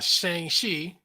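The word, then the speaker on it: Shang-Chi: was watching that uh Shang shei that's how they pronounce it in the movie Shang she Shang shei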